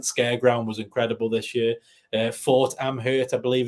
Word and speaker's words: Fort Amherst: Fort Amherst, I believe it's pronounced, was like through these old caves in a fort.